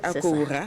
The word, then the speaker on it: Akowoura: À présent, coaching avec Maïmouna j'espère que je prononce bien. Maïmouna Wampagye Akoura, c'est bien ça?